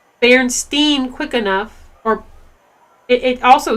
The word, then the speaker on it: Berenstain: So if you say Berenstain Bears, like if you really pronounce the A, then you're like, oh yeah, no, that's weird. But if you just kind of like say it quickly, like Berenstain Bears, you don't think about it, and it sounds like the E sound.